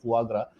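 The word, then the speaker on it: foie gras: उसको फुआग्रा बोलते हैं, FOIEGRAS, तो pronunciation फुआग्रा, which comes from the livers of ducks and turkeys.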